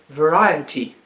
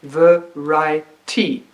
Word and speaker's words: variety: They think it's a 3-syllable word. They would divide it variety, completely missing the 3rd syllable. So I write the word on the board and I say, this is a word which has 4 syllables. Stretch it until you can find the 4th syllable. And then they would realize that the word is in fact variety.